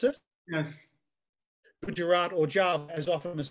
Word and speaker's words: Gujarat: Is that how you pronounce it? Yes. Gujarat or Java, as often as not, it's mishmash, unfinished, it adds up to nothing at all, and I don't care.